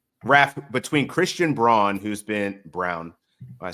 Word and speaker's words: Braun: Yeah, that's what that's what everybody thought when they first read it, and then it's like, no, it's pronounced Brown.